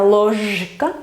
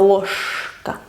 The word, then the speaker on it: ложка: Se escribe con j, pero no se pronuncia ложка, sino ложка, porque después va la K, que es sorda.